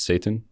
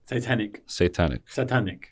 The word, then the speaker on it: Satanec: This has been Mo, and as I learned, his last name is Satan. Satanic.